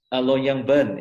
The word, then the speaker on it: Longyearbyen: How do you pronounce it? Longyearbyen.